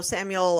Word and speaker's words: Samuel: his name you know those people that put a S at the end oh Samuel Sam yeah Samuels they'll like Samuel senior